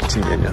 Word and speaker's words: Kinyinya: Kinyinya? Yeah, this is Kinyinya.